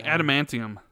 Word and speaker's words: adamantium: Jez, say adamantium.